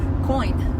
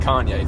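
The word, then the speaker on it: Coyne: How do you pronounce it correctly? Coin. Coin? Not Kanye, thank God.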